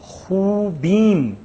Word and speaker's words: خوبیم: کی طرف، ماں خوبیم، بیم یہ میم ہم تلفظ کر رہے ہیں، خوبیم، یعنی یہ میم کو ہم یہاں تلفظ کر رہے ہیں، یہ علامت میں نے اس لیے وہ کی کہ آپ کی توجہ کی، یہ خوبم خوبیم، فرق یہ ہے۔ شما پہ آ کے